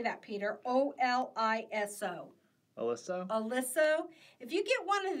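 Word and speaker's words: Oliso: Alyssa.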